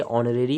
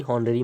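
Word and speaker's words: honorary: आगे देखेंगे हम 42 वाला, ऑनरेरी, इसको पढ़ेंगे ऑनरेरी, हॉनरेरी मत पढ़ना।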